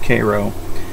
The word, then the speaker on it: Cairo: Georgia ojas spelled like Cairo but it's actually pronounced Cairo I've been a member of nya's YouTube for